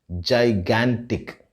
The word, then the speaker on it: gigantic: as jan as in january but the right pronunciation of this word is gigantic it's very surprising isn't it but yes that